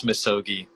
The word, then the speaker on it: MISOGI: even ever asked you how do you pronounce it it's misogy yeah that's what i say